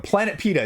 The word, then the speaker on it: Planepita: Although, you know, in the English, I think we're missing a syllable here, but Planepita is actually how they say to pronounce it down below.